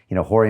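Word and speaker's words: Rorion: These guys that their names start with the letter R, but you pronounce it as if it's an H. An H. Horry went on to start the UFC, and it changed everything.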